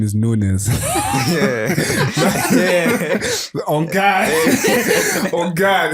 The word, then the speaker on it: Nunes: there's nothing funny there it's pronounced nun nun nun is in